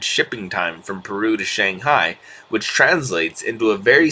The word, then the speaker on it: Shanghai: That will knock at least 25% off the current average shipping time from Peru to Shanghai, which translates into a very significant increase of overall productivity.